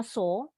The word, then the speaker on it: saw: Bacanya saw, walaupun ada w-nya nggak kedengeran.